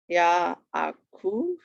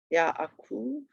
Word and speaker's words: Yaakov: Yaakov. Yaakov.